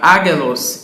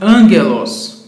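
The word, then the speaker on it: ἄγγελος: Então, na palavra angelos, você não lerá agelos, e sim angelos, porque o gama vem antes de outro gama, assim nós o chamamos gama nasal.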